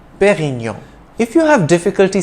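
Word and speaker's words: Pérignon: pioneer of superior champagne it's a soft d in dom and you don't enunciate the n at the end of perignon but rather pronounce the preceding o nasally perignon if you have difficulty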